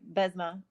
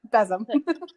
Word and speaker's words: besom: So I always do a full sweep, and then I use my Besma. I'm mispronouncing it. I know I am, but Besom. Yep. See, I told you I was.